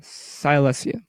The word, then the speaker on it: Silesia: this game to attack Silesia Silas yeah is that how you say it yeah Silesia sorry if it's an